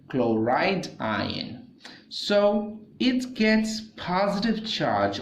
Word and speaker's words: chloride: Now this is called sodium ion and this is called chlorine ion, but chlorine ion is not a correct way to say that. It is called chloride ion.